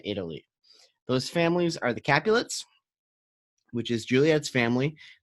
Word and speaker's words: Capulet: Those families are the Capulets, which is Juliet's family. It's easy to remember because Juliet rhymes with Capulet, and Montagues, which is Romeo's family.